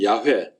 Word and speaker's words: 야훼: 그래서 개역 성경을 비롯해서 모든 성경은 다 여호와 혹은 야훼, 요즘에는 발음이 이게 고증을 해보니까 여호와보다는 야훼가 맞다, 그래서 이제 야훼로 하는 사람들도 많이 있습니다.